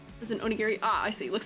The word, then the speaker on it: onigiri: Long O sound. Okay. Oni Gary.